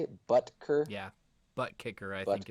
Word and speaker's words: Butker: Butker? Yeah, butt kicker, I think, is Butker. the official Butt pronunciation.